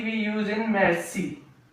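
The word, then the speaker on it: merci: C we use in mercy.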